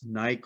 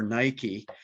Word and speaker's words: Nike: For example, the 1988 $5 Olympic gold coin that shows the Greek goddess Nike or Nike, depending on your pronunciation.